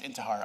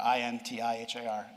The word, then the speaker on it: Intihar: with a Y, it's the right way to spell it. And it's Intihar, Intihar.